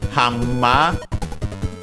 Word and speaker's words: ハンマー: Hama as a reminder uh N when followed by uh the uh M becomes also M by assimulation and so double M h we check the